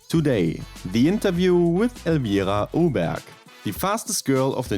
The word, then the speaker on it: Öberg: URC right in Swedish in Germany we say like urbe but I think in Swedish it's like uber uh she said it